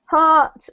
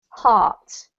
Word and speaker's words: heart: The next 2, hurt is the same as this sound here, and heart rhymes with cart or smart. Okay, so hurt, heart.